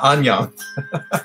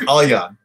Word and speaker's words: Alyon: So yeah, he's not Anyon. He's Alyon. That's good.